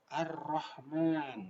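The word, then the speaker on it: الرحمن: Cara membacanya suara al-nya diidghamkan atau dimasukkan kepada huruf selanjutnya. Contohnya Ar-Rahman.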